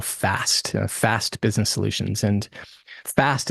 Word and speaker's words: FASTT: And that culminated into business solutions we call FAST, FAST Business Solutions. And FAST is an acronym, which is spelled FASTT.